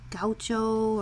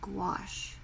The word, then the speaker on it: gouache: You know, I used to say gaucho, or, oh boy, that's a hard, there's no W in the word gouache, but that's how you pronounce it, gouache.